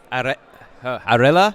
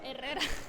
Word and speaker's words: Herrera: Arela? Herrera. Arreda? Herrera. Herreda? Herrera.